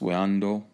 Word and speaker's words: Wando: Caroline carolina south carolina way on door okay pronounced window now this is a